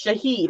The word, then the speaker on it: Shahid: It's not shithead though; it's Shahid."